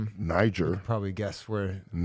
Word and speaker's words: Niger: probably guess where Niger. Yeah. But we just want to make sure we're saying Niger, you know, I had a couple brothers. That's a soft G.